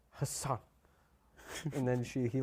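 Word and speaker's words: Hasan: on Ellen he's like people haven't actually been saying my name wrong and he's like it's h son and then she he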